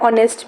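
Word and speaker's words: honest: Like an ऑनेस्ट मैन। सो ऑनेस्ट किससे शुरू हुआ है, एच से शुरू हुआ है, राइट। बट एच इसमें क्या है, साइलेंट है।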